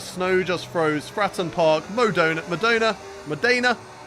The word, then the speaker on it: Modena: Fratton Park, Modena, not Madonna.